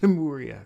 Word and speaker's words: Lemuria: It's pronounced Lemuria.